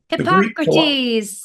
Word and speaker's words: Hippocrates: And those personalities were tied to different parts of the body, and Hippocrates, I always can't pronounce his name. What's his name? Hippocrates.